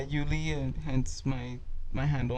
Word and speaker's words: Uly: is like your name I go by you legally yeah you Lee and hence my my